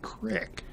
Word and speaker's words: creek: And the majority of Iowans do pronounce it as crick.